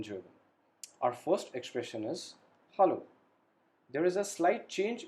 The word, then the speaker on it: hallo: Our first expression is hallo. There is a slight change in the pronunciation. In English, we say hello, but in German, we say hallo.